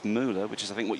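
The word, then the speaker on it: Müller: your pronunciation of um we we're saying muler but Mark's been in touch again and says it's it's Mula which is I think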